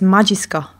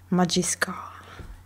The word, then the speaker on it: Majisuka: Oh, by the way, in the announcement, you you mispronounced the URL. Yeah. It's Majiska. Translates to seriously. Majiska.